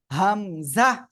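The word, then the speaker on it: همزة: মাশাল্লাহ হামজাহ জোরে বলেন হামজাহ কোন টান হবে না জোরে হামজাহ হামজাহ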